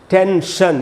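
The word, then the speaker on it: tension: Instead of sound instead देखिए जैसे यह वर्ड है टेंशन ये वर्ड है ना तो यहां एन है। एस आई ओ एन के पहले एन है तो इस एस से आपको श बनता हुआ दिखाई पड़ेगा।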